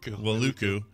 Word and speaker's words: Wailuku: Wailuku.